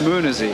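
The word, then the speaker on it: Möhnesee: music a life music how do you pronounce the name of this Lake it's Muni we're going for a boat ride out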